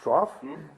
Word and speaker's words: trough: I think in English TR Oh ugh it's pronounced trough in England in America or in Ireland I'm